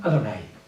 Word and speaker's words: Adonai: existen en la escritura Adonai lo pronuncian adonay ahí no hay ninguna